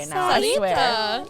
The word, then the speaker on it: Sarita: Sarita. You can just replace the R with the D. Or with the D. Sarita? Sarita. Sadita.